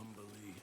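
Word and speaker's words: Umberlee: What do you know of Umberly Astarion? Oh, lots. Rhymes with undersea, for one thing.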